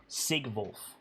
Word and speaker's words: Sigvulf: Sigvulf.